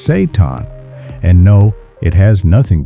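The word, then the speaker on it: seitan: It's called Saiton, pronounced Saton.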